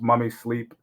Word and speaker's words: MVMI Sleep: Instagram uh mommy sleep it's spelled mvmi but pronounced mummy sleep and yeah website Instagram